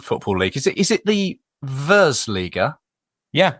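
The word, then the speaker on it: Virslīga: Is it the Versliga? Yeah, it's really called. You pronounce it in the really, really good way. It's Virsliga.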